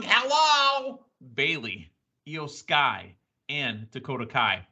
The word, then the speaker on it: Dakota Kai: We're talking about Ding Dong, hello, Bailey, Io Sky, and Dakota Kai. Not Dakota Sky, by the way. And, Cleveland gave her a whole bunch of hard time for saying Dakota Sky. I know it's Dakota Kai.